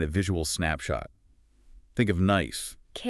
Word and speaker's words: knife: Think of knife. K N I F E. Silent K. Silent E.